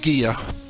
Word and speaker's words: Gigha: of Scotland called gear it's spelled Giga but it's pronounced gear and there was a